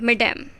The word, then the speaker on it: mesdames: तो मैडम का प्लूरल जो होता है उसकी स्पेलिंग ये होती है MESDAMES, पर प्रोनाउंसिएशन वही होता है, मैडम।